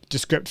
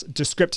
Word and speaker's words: Descript: And that's Descript is spelled D-E, how do you spell it? D-E-S-C-R-I-P-T. So it's like script, but with D-E at the beginning of it.